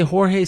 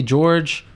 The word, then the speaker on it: Jorge: the way some say Jorge some say George it's Jorge right they man they've been